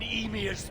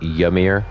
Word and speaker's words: Emir: I have bathed in emir's blood Emir that's how you say it not yummier is this madness Okay